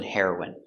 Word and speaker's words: heroine: next we have heroin the pronunciation is the same the drug heroin and the person heroin hero is for a